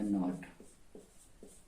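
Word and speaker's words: knot: ये हो जाएगा नाइफ और ये हो जाएगा नॉट।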